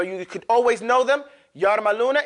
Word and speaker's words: yarmaluna: Yarmaluna is just as it's spelled. Ya, ra, mim, lam, waw, noon. Yarmaluna.